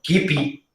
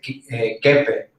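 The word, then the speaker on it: kibbeh: Y cuando, pues no sé, decía, por ejemplo, kipi o kipi, y decía yo como que chef, se dice kepe, y no se dice con P, sino la W suena como con P, entonces es kepe.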